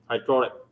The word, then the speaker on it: hydraulic: and the uh and the accent is on uh here hydraulic and to raise a